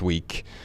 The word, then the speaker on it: VVE: So, Ryan, this is the second time we've worked with We. They did it again. It's spelled VVE.